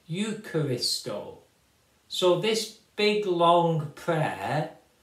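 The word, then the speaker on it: εὐχαριστῶ: days you will say F Christo it's at the time of Jesus at the time when the scriptures were written it would be pronounced eucharisto so this big long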